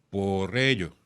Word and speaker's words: Porrello: Me tenías que decir cómo se pronuncia su apellido. Porrello.